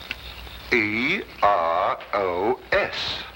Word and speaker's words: Eros: where there shouldn't have been one what then spell it as she spelled it but without the H e r o s precisely and here he is Cupid the Greek